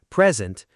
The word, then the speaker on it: present: Sentence two, present. Stress on the first syllable. So that's the noun meaning a gift.